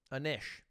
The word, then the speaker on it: Anish: just likes the french it's phonetically like fish a niche my bad anish i'm american everybody gets